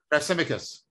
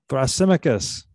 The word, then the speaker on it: Thrasymachus: Thrasymachus. Thrasymachus.